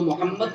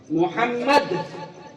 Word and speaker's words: محمد: حمد سے آپ ہا بھی نکال دیجئے تو محمد کا اگر آپ تلفظ دیکھیں، ملفوظی اعتبار سے دیکھیں اسے، تو ملفوظی اعتبار سے اس میں ڈبل میم ہے. محمد میم پتہ ہی، ڈبل میم ہے، ڈبل میم ہے.